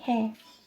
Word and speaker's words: 해: Okay, hair. It's pronounced hair.